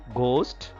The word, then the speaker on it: ghost: in the word through ghost whiteness bright through h is silent here in ghost again h is silent in whiteness gh are